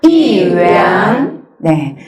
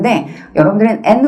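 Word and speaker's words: 元: 이위안 , 위 엔 , 그렇죠 . ' 위안 ' 또는 ' 위 엔 ' 으로 발음 되지만 , ' 위안 ' 으로 발음 하는 것 이 더 좋을 것 같습니다 .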